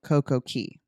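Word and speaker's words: CocoCay: general it is still CoCo Key the actual pronunciation is like car key but it's c-a-y well there you go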